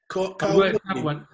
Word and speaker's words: Carwardine: How do you pronounce your surname? Carwardine.